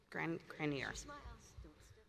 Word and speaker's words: Granier: Grannier.